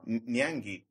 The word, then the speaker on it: Nyangi: Your surname sounds as it's spelled. Nyangi. Yeah. Hard G. Not soft G, Nyangi. I'll kill you. It's hard G.